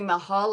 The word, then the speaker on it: Michal: wrong so is it it's actually Mahal like the Taj Mahal I love that okay